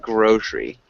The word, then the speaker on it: grocery: We say more like grocery. So, it's a silent e.